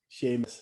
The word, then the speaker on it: Sheamus: It's spelled Seumas in Gaelic. Yes. So like Sheamus. The fact that he's Sheamus, it's like it's just so that Americans can read it, and I find that so funny.